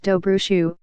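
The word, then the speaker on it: Dobrușa: montien to prune the orchards the buildings are sinking below a canopy of walnut Grove's and apple trees dobra saw pronounced dobro shoe was once a village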